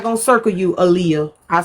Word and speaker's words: Aaliyah: I thought her name was All Y'all. But it wasn't. It's Aaliyah. It was the way it's spelled.